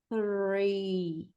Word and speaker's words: three: com a língua aqui na frente, fazendo esse TH, e o R do inglês, ele puxa aqui, é o nosso R caipira de porta. Vocês falarem porta, presta atenção, onde que vai ficar o R? A língua, quando você fala o R. Porta. Então, a língua está aqui na frente e depois a gente tem que puxar aqui para trás. Então, é three, three, tá?